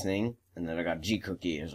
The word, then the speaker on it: Gcookie: Yeah, that's how you say it, Gcookie.